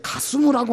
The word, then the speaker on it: 가스무: 게셈이라는 말은 히브리 발음으로 게셈이고 이 산발랏의 편지에는 히브리 발음으로 기록한 것이 아니라 그들 발음으로 가스무, 게셈, 가스무 좀 비슷하죠? 이 게셈이라는 사람의 발음이 그들 발음으로 가스무입니다.